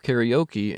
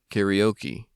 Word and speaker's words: karaoke: up to you to take that natural English pronunciation of karaoke and change it to Natural Japanese karaoke karaoke karaoke karaoke as I mentioned the endings are all some variation on an o sound but don't try to